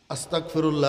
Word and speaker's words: আস্তাগফিরুল্লাহ: ও ভাইরা দোস্ত আহবাব, শুধু এক গাইনের জায়গায় যদি কাফ উচ্চারণ হয়, এবার অর্থ কোথায় যাইতেছে দেখছেন? এবারে ইস্তেগফার করার সময় একটু সতর্কতার সাথে গাইনটা উচ্চারণ করতে হবে না?